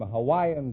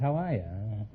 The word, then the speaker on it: Hawaii: Is that the correct pronunciation? I thought it was Hawaii. No, that's not right. Hawaii is correct.